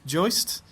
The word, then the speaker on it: Joost: your conversation with I know I'm going to pronounce his name incorrectly. Is it Joist, who funded...